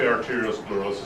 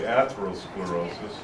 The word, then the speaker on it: atherosclerosis: Well, some people say arteriosclerosis, some people say atherosclerosis. I'd say either are acceptable.